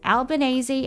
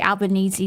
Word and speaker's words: Albanese: That's how we say Albanese now. Albanese, because that's how the UN lady says her name. And she's Italian, so she knows how to say it properly.